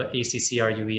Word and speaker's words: Ackroo: we spelt it funny on purpose you know acc rue is the correct pronunciation but we kind of stole the two